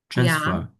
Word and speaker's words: transfer: Transfer. The first syllable. Okay. The first syllable. That is Yes. That is transfer. Yes. Of course. The trans. Yes. Very good. Because this is noun and as a verb.